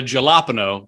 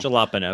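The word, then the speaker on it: jalapeño: or meat like i like that so the jalapeno i think you're pronouncing it wrong jalapeno yes my bad the the jalapeno is somewhere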